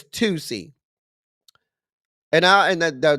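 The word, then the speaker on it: Toosii: Is it like the deodorant? It's not spelled like the deodorant. It's spelled T O O S I I. Now, I don't know if that's like that nast deodorant, Tussy. I think it's Tusy.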